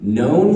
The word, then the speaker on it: known: Likewise, I found out I was saying the word known wrong. I say, I would have known. Oh, that's Like weird. 2 syllables.